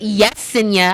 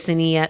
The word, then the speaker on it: Lessina: I get Yesinia. I don't know how we get a Y confused with an L, but I get Yesinia. Sometimes Y. That's what it's because. Lessinia. There we go. The Y is silent.